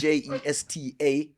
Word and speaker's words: Jesta: A lot of people get the name wrong. So it's Jesta Dancehall UK.